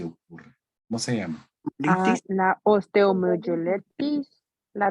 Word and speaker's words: osteomyelitis: La osteomyelitis, la La 2.